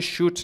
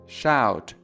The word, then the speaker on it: shout: این کلمه رو هم به صورت shoot نخونید که مثل کلمه loud تقریبا یک جور بخش دومش تلفظ میشه. loud shout. در اونجا ما تی رو داریم، در این ور دی رو داریم. loud shout.